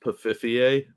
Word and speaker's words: Pfeiffer: costume, and not the new one, the Michelle Pfeiffer one, because that one was hot. I believe her name is pronounced Pfiffier.